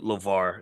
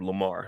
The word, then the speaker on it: LeVar: to support LeVar, and it's LeVar with a V. So when y'all go look him up, make sure. Some people, I saw someone type Lamar. I'll make sure we got to say his name right.